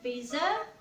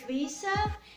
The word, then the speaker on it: visa: So a lot of people would say that it's visa, which is incorrect. The right way to say it is visa, and it's kind of weird because when you say I want to visit, voiced z sound.